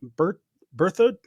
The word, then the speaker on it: Berthoud: Joining me today is Kerry Garrison, a seasoned off-roader and content creator from Berthoud?